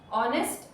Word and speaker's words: honest: of the best organizations honest in which H is silent agree for that is